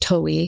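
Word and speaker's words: Towey: Shortly before her death, she wrote to founder Jim, I think it's pronounced Towie, urging respect for the dignity of life, the most beautiful gift of God.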